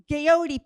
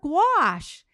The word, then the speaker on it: gouache: was asking, gouache, and I think I was like, Gayote paint. I'm asking the person to help me find, it was like I was trying to pronounce it totally wrong.